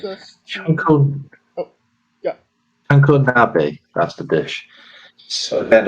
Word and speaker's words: chanko nabe: So it sounds like Chanko nabe. Again, probably butchered the name, but yeah, that's a dish I'd like to try next time I go to Japan.